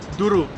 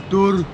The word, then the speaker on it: Douro: Even though we just came from Douro. Sorry. Douro.